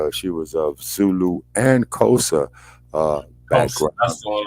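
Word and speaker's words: Xhosa: yeah yeah yeah yeah kosa is spelled x h OA kosa and that there is the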